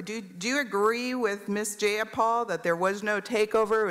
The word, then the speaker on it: Jayapal: you agree with miss jayapal that there was no takeover it was just jayapal if you're going to say my name please say it right it's jayapal jayapal do you would you agree